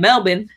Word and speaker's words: Melbourne: I'm just a little south of Melbourne in Geelong, but we'll call it Melbourne. I love it because I'm still trained to pronounce it like an Australian, Melbourne, and you're like Melbourne.